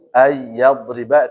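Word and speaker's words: أن يضرب: Ayyadriba itu yang ada gunahnya.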